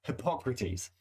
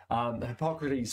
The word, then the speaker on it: Hippocrates: Now, there are multiple ways to pronounce his name. I'm going to pronounce it Hippocrates.